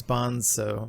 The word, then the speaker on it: Bonzo: i think it's yeah i think it's bonso bonsa with an s like i think that was how they wanted you to pronounce it um yeah i don't